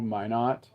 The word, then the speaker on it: Minot: No, Minot. It's like Minot.